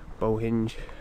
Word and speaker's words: Bohinj: am now in Lake Bohinj. I know you're not actually supposed to pronounce the J, but I do it every time.